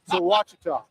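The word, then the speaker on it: Ouachita: So Wachita.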